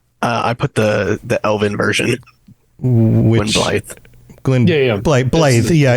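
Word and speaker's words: Gwynbleidd: Which Blythe. Blythe. Yeah, it's the 2 D's as I mispronounce it. It's pronounced like a TH. So it's spelled with 2 D's, pronounced like TH.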